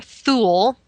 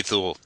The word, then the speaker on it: Thule: And he presents us with a Greater Thule, or Thowel, depending on how you want to pronounce it. There is only Thule.